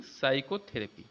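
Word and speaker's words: psychotherapy: तो पी जो है इसमें जो है हमारा साइलेंट है, बोलने में साइलेंट हो जाए।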